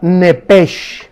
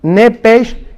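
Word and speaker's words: נפש: ahí arriba de Alma la palabra nepes como suena nepes con s como suena que es la palabra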